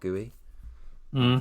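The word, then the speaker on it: Guéhi: the person you're sorting him against is Mark Gooey, which I read is how you pronounce his name earlier, which is funny.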